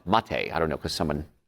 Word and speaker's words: maté: ER ba and then the second word is ma te looks like me but it's pronounced Ma Tei I don't know cuz